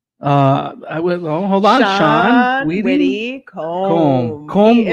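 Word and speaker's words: Widdicombe: So The way some people pronounce his name. Widdi Combe. Widdi Combe.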